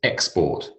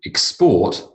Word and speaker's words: export: oranges are our biggest export we export over 500 million tons per year again same word different emphasis once an hour once